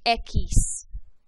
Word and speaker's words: equis: of this letter is equis see that q and u together and make that ka sound echis and it kind